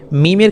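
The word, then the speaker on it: م: অক্ষর গুলিতে এক আলিফ পরিমাণ টান দেবেন এরপরে মিমের ক্ষেত্রে ঠোঁটের বহির্ভাগ যুক্ত করুন মিম মিম একটু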